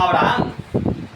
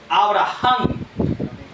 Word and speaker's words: Abraham: Nosotros le decíamos Abraham, pero cuando le decimos Abraham no estamos tomando en cuenta la H. Así es. La verdadera pronunciación es Abraham.